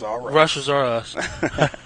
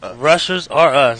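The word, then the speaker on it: Rushers R Us: business venture in Russia's how do you say it Russia's RF Russia is Russia's R Us I gotta say it again rushers are rushers are us there it is there it is so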